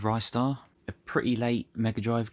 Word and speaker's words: Ristar: there's a few people out there that pronounce it ristar I'd never really thought about it but I guess there's different ways to pronounce lots of different words I'm just going to stick with Rye star a pretty late Mega